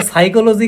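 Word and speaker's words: psychology: দেখে দেখে বানান করতে সেখানে পি সাইলেন্ট সাইকোলজি পি বানা হিউমার মারি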